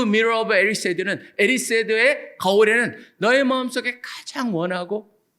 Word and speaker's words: Erised: 거울의 이름은요, 디자이어라는 영어를 스펠링을 거꾸로 한 겁니다. DESIRE니까 그걸 거꾸로 하면 어떻게 되겠습니까? ERISED. 그래서 에리세드라고 Mirror of Erised.